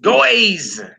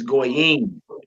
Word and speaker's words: goyim: Goyim. Goyim, nations. Notice we don't say goys. Goys. Heathens, goys. No, it's goyim.